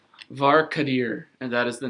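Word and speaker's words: Var'Kadir: obviously is the evil one uh and it's var kadir and that is the name of his father mark dear and that is spelled v-a-r apostrophe k-a-d-i-r also i have one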